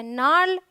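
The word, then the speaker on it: gnarl: Alright, rule number 2 says अगर जी के बाद एन आए तो जी साइलेंट होगा।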